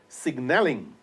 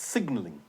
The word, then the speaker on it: signalling: It should be pronounced signalling, but it's not. It's signalling.